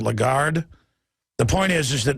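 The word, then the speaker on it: Lagarde: from the taxes uh how do you pronounce her name I always say lron but it's a legard the point is is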